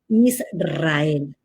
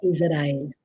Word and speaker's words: Israel: Igualmente, todos deben aprender a decir en español correcto, Israel, no Israel.